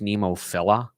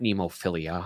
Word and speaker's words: Nemophila: um by the way it's pronounced nemophila not nemophilia and i was like okay